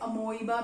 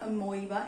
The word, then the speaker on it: amoeba: कई students इसे amoeba भी बोलते हैं, but that's not amoeba, it's amoeba.